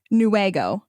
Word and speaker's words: Newaygo: Wait, it's not wag like a dog's tail. So pronounce this for me. Newaygo.